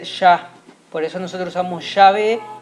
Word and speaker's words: Yahvé: pero nos indica que se pronunciaba con la A y no con la E. Por lo tanto, no puede ser She, sino tiene que ser Yah. Por eso nosotros usamos Yahvé y no Jehová.